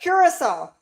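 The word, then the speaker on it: Curaçao: Curissol. Yeah, curissol. That's how you say it. It's cur. It's spelled c u r a c ao, but it's curissol.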